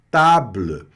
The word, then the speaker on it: table: E essa vogal, ela não é pronunciada, tá? Então, ela pode até aparecer bem discretinha no final da palavra, mas ela não tem a menor intenção de aparecer.